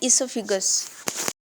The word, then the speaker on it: oesophagus: इसोफिगस के spelling लिखने में ओइसोफिगस है, बट बोलने में इसे बोलते हैं इसोफिगस।